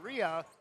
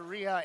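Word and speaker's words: Reha: We've been pronouncing the hard H, but the H apparently is silent. Taylor Ria, a 56 senior post and number 23, Clarissa Schirts, a 6 foot junior post.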